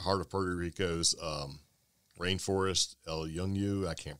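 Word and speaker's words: El Yunque: of Puerto Rico's rainforest, El Yungu, I can't pronounce it, in 84. So it looks like El Unique. It does, but it's like Yung, but, and so, you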